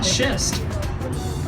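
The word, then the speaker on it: schist: You'll say, "Ah, shist."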